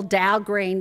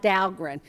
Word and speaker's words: Dow Green: So it's just a simple Dow Green, nothing fancy like Dahlgren.